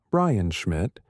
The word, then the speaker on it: Brian Schmidt: Z Supernova Search Team, led by Brian Schmidt, pronounced Brian Schmidt, at the Australian National University, with Adam Rees, pronounced Adam Rees, playing a crucial role in the data analysis.